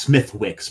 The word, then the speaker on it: Smithwick's: It's pronounced Smithwick's, by the way.